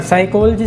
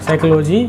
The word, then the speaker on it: साइकोलॉजी: सीखते ही रहेंगे पर साइकोलॉजी सीखना बहुत ज़रूरी है। साइकोलॉजी या कुछ लोग साइकोलॉजी बोल देते हैं बट इसकी प्रोनाउंसिएशन थोड़ा सा साइकोलॉजी होती है, ठीक है।